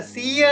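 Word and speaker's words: සිය: அப்ப ஒன்று என்றதுக்கு என்ன எக்க ஒன்று என்றதுக்கு எக்க அப்ப ஒரு நூற்று என்றால் இந்த சிய என்று சொன்னதானே இங்க சிய என்று உச்சரிப்போம் அப்ப எக்கசிய ஒன் எக்க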